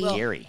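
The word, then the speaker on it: Gerry: It bugs me that his name is Gary, and they spell it G-E-R-R-Y. Like a Jerry. Like Jerry. It is Gary. It is Gary.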